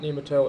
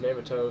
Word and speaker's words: NeMaTo: i commentated of nematodes it is not nemato it's name a toe sorry about that uh trying